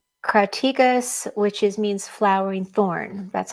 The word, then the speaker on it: Crataegus: And it was also called Crataegus, which means flowering thorn. That's how you pronounce that name.